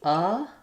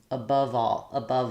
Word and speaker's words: above: So it's going to be above all. Instead of thinking of above as one syllable, I'm going to just make my V link to my next vowel. And so I'm going to say above all.